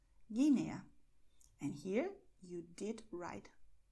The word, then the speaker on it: Guinea: And in GUE, GUI, the letter U is silent. So we are going to say in Spanish, Málaga, Bogotá, Guatemala, Guernica, Guinea.